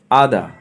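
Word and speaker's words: other: আদা, অন্য অন্য, আদা, মনে রাখবেন লাস্টে আর এর কোনো উচ্চারণ হয় না।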